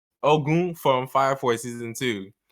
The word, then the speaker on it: Ogun: osama we got ogu i didn't say ogun i said cause that guy's nigerian you know nigerian you gotta pronounce it right oh goon from fire four season